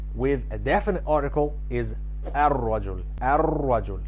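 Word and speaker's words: الرجل: Rajul with a definite article is ar-rajul, ar-rajul. We've skipped pronouncing the lam or the L sound in ar-rajul. We did not say al-rajul, we said ar-rajul.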